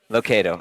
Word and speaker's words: Lucado: Lucado, okay, so I said it right.